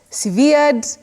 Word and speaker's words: severed: who love good pronunciations, this word is not related at all with the adjective which is severe. Severe and this word are not related.